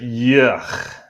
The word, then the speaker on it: Yucch: I would pronounce it yuck, Yuck, yuck.